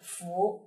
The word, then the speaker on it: 夫: 第一个呢就是拂，逝者如斯拂。